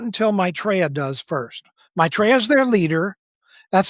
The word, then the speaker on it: Maitreya: Maitreya's their leader. That's spelled m a i t r e y a, Maitreya.